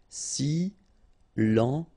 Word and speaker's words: silencieux: Final X not pronounced, okay? This part here will be pronounced like cieux, okay? Then you get silencieux.